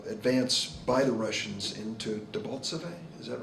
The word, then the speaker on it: Debaltseve: than there was advance by the Russians into Debaltseve. Is that right? Am I pronouncing it correctly?